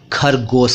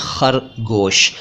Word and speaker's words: खरगोश: रहा हूं खरगोश की जिसको कई लोग खरगोश कहते हैं खरगोश एकदम गलत उच्चारण है ये खरगोश नहीं कहना चाहिए सही शब्द वही है जो मैं बोल रहा हूं यानी खरगोश अब खरगोश का मतलब